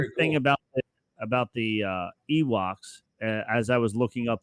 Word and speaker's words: Ewoks: The new species rhymes with Miwok, which was a Native